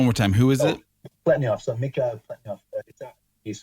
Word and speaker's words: Pletnev: Pletnev. So McGehee Pletnev. He's spelled P-L-E-T-N-E-V, Pletnev, but it's pronounced Pletnev.